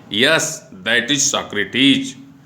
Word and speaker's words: Socrates: कुछ समय बाद सुकरात, इसको अंग्रेजी में उच्चारण सॉक्रेटिस कहेंगे और हिंदी में पढ़ेंगे तो सुकरात कहेंगे।